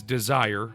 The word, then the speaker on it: Dezire: Super hard because when you say desire, it's pronounced with a Z and not an S.